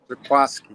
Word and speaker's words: Jaquiski: How do you pronounce his first name correctly? Jaquiski. Yes. Jaquiski.